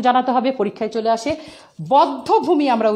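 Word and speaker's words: বধ্যভূমি: বদ্ধভূমি আমরা উচ্চারণ করব, কিন্তু না, এই ক্ষেত্রে ব্যতিক্রম, কোনো নিয়ম ছাড়াই বদ্ধভূমি হবে না। তোমরা যে মিরপুর বদ্ধভূমিতে যাও, এটার উচ্চারণ আসলে বদ্ধভূমি, এখানে ওকার হবে, এটা নিয়ম ছাড়া।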